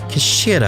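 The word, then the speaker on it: 頭: It's written as head in Japanese, but it's pronounced as Kishira, I believe.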